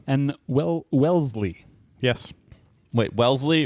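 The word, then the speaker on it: Wellesley: well Welsley yes wait Welsley or or wesle not Wesleyan Welsley like the Vanguard mutual fund I remember this is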